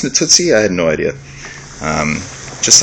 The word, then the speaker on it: Natuzzi: Did you know it's pronounced Natuzzi? I had no idea. Just like the rule, I kind of assumed it was Natuzzi, which I was willing to pronounce and not feel weird about.